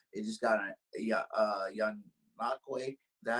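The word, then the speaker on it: Ngakoue: It just got a young Nakwe. Is that how you say his name is? Yeah. Yannick Ngakwe.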